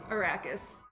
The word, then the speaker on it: Arrakis: into the history of arakas arrakis that's how they say it in the movie yeah but if it's